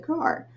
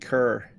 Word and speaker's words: Carr: just about to say most people would pronounce that Wayne cerr C Liv in Ry for a very long time with car drugs it is car I asked all right